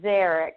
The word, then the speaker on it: Szarek: first initial, C.A., but her last name is spelled S as in Sam, Z as in zebra, A-R-E-K, but pronounced Szarek.